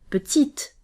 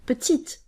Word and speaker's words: petite: to pronounce it therefore the e at the end of a word isn't a signal that you have to pronounce the e itself but instead it's a